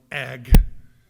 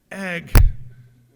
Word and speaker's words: ag: a few weeks, but it's just 2 letters, 1 syllable, but it's this little noise sound word called ag. Ag. Kept hearing people say ag. I was like, why is everybody clearing their throat around it? Heard about ag bills and the ag committee and the ag building. It took me about 3 weeks to figure out what y'all were saying. Ag is short for agriculture.